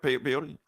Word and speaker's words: peyote: Peyote. Pyute.